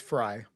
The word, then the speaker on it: Frey: subpoenas that uh uh the Mayor Fry or Frey, I don't know how it's pronounced, um has made available. I believe it's Fry.